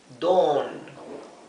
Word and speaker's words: dawn: Dawn, lo he escrito aquí en verde con doble O, porque la A y la U, dawn, se pronuncia como una O larga, dawn, ¿sí?